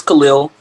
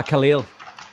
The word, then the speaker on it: Kahlil: got cattle coming in am i pronouncing your name correctly it's it's khalil ah khalil yeah it's kind of spelled similarly to an irish name cattle yeah i know that